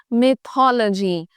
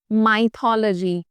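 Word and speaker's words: mythology: ट circulate every where one इज माइथोलॉजी another one इ मिथल जीी no this today ट the correct pronunciation is मिथल जीी नॉट माइथोलॉजी what ड the word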